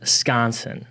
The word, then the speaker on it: Skonseng: I just learned how you say it. I was been saying it wrong the whole entire time, but it is pronounced Skonseng.